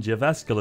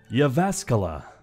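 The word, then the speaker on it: Jyväskylä: owpain while the northern Java skill of Eden Falls to Brazil it's pronounced Java Scala all right thanks for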